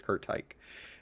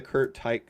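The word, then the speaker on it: Curt Teich: I go back and forth with how to pronounce it, but I believe it is Kurt Tyke.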